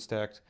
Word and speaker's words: Stack3d: I say Stack, that's how it's pronounced.